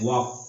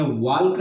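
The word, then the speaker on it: walk: वाक इसको वाकल्क नहीं पढ़ेंगे। इसमें वाल्क नहीं पढ़ेंगे। इसको क्या पढ़ेंगे? वाक। इसमें एल क्या है? साइलेंट है।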